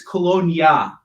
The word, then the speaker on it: Kalonji: book artist jp kalonji i could pronounce it i was on with that one and then he's going to say like it's colonia the j is silent then why the heck's there in the first place uh has begun to